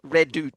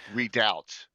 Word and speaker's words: redoubt: And the characters were supposed to break through the Ayusian lines and assist Redut, so to speak, Redut. Redoubt.